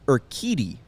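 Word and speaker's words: Urquidy: good shot as well it's urkitty yes or kitty yeah i saw it on the pronouncer but i still going to say they're kuiti all right you know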